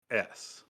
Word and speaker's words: Fuggets: Spelled FUGGETS. Pronounced Fuggets. Fuggets.